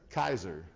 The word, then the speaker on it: Caesar: greek pronunciation of this they didn't have the soft c sound like we say caesar they only had the hard c sound which was kaiser right and so does